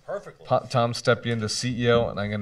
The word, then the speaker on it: Stepien: Did I pronounce it right? Perfectly. Tom Stepien, the CEO, and I'm going to embarrass myself.